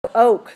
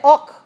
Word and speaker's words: oak: oak the oak tree oak now be careful don't say awk awk awk oh oke oke oh